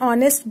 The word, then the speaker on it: honest: For example, an hour, an honest boy, an honorable man.